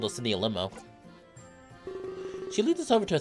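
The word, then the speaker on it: 四: four can be pronounced she it's like the same as saying death she smiles and giggles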